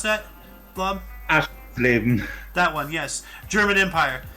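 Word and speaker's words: Aschersleben: Can you pronounce that, Blob? Aschleben.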